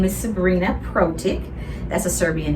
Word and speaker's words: Protic: have a common name my name is sabrina protik that's a serbian name by the way and i'll have to spell that for you it's s a b r